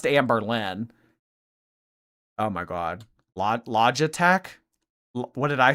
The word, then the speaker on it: Logitech: Log logitech.